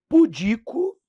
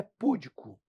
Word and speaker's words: pudico: porque tem que saber, é pudico ou é púdico? É interim? É ínterim? É aerólito, aerolito? Pessoal, gabarito letra B. Pudico, paroxítona, ínterim, proparoxítona e aerólito, proparoxítona. Portanto, elas são acentuadas, ó.